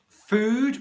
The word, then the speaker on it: food: foot for example okay food which is the long english vowel sound and foot which is